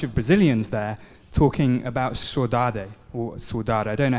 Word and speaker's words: saudade: were a bunch of Brazilians there talking about saudade, or saudade. I don't know how to pronounce it in Portuguese.